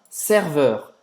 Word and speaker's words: serveur: Faz a boca do O aberto e fala E.